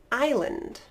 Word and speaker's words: island: the silent s and the silent s I'm only going to give you two words but they're pretty common words if you like to travel so we have Isle and island again Isle Island perfect alright only a couple